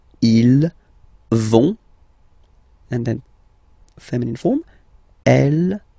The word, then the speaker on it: ils vont: So ils vont, final T not pronounced, ils vont, and then feminine form, elles vont.